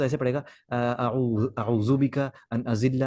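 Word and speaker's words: أعوذ: जैसे दुआ यहाँ पर है अल्लाहुम्मा इन्नी अऊज़ु बिका, यहाँ ज़ाल है, अऊज़ु बिका अन अज़िल्ला, औ उदल्ल औ अज़िल्ल औ उज़ल्ल औ अज़लिम औ उज़लम औ अजहल औ युजहल अलई।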